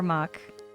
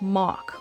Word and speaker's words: Mach: Mach is pronounced like mock. Oh, mock. But in Canada and the UK, Mach is pronounced like Mac.